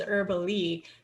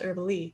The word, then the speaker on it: Erbele: So ErbyDraws is based on my last name, which is Herbally, but it is spelled ERBELE. So everybody pronounces it herbal, and for whatever reason, my whole family says it's pronounced Herbally.